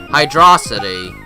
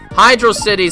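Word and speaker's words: Hydrocity: part but yeah it's spelled as one word so you should past the world like it's one word hydrosity hydr City sounds like a two-word thing uh-oh I died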